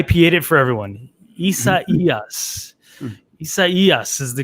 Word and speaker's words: Isaias: Isaias is the correct way to say it.